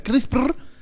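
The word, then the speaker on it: CRISPR: Que se pronuncia Crisper en particular, qué implica editar un genoma y qué podemos hacer hoy con Crisper y qué no.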